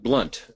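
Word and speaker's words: Blount: A client of mine recommended the book Fanatical Prospecting by Jeb Blunt, pronounced differently than it's spelled.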